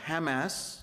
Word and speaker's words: Hamas: right to exist well Hamas or Hamas as it's pronounced in Arabic is a radical Islamic